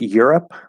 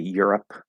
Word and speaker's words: Europe: With Europe, so if it's at the end, Europe or help. Now the P in Europe is not in the middle, okay? Because the E at the end is silent.